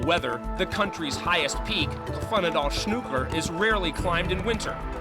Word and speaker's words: Hvannadalshnúkur: Well, the correct pronunciation is Hvannadalshnúkur.